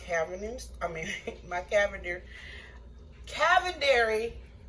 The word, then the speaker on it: Cavender's: using accent my cabinets I mean my Cavender cavendary Cavenders is how you pronounce it my Cavender's all-purpose greek seasoning my